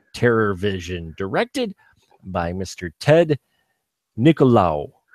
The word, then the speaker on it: Nicolau: I hope I pronounced that right. I have heard, you know, it looks completely like Nicolau. I have heard it pronounced Niccolo. Oh, but okay. You know what? I still see it as, every time I see